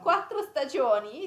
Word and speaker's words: quattro stagioni: The two T's and the R.